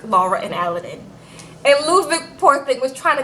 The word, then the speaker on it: Ludwig: It's a W pronounced a V. Ludwig, okay?